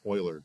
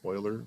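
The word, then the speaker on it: Euler: Transform local uler angles Oiler. Excuse me. J's pronounced oiler. I want to say Uler every time I see it, but it's Oiler. No spoiler.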